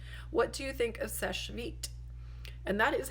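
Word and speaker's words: Seche Vite: hope that helps what do you think of SES vit and that is how you pronounce it it's SES vit not SES not such or vit or it's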